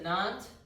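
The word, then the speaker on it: Nantes: Um uh and then they traveled to Nant, that's how I've heard that pronounced.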